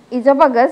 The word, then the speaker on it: esophagus: So, in here you should pronounce esophagus because O is silent in here.